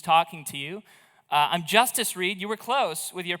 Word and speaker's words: Justus Reid: Uh, I'm Justice Reed. You were close with your pronunciation, but not correct. That's the way we say it in America. Not not Eustus.